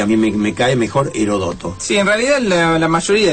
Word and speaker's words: Heródoto: mí me cae mejor heródoto si en realidad la mayoría de esos nombres griegos admiten quizás distintas acentuaciones productos sin acento se leería herodoto herodoto debería llevar acento en lado porque será el brújula